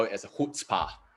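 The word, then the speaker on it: chutzpah: what i like to call it as a hood spa right so it's spelled as c-h-u-t-z p-a-h so who spa is really that kind of attitude which is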